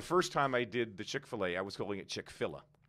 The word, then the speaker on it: Chick-fil-A: i got your upload the other day it's pronounced chick-fil-a so why the don't they